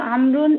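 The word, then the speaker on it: عمرو: The proper name अमरुन is written with a wow which is not pronounced.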